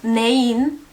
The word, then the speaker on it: нейн: Also, nein, it's with the regular i, not i kratko, but all the other forms are with i kratko. Neina, neino, neini. The difference in pronunciation is a little bit subtle, but there is a difference.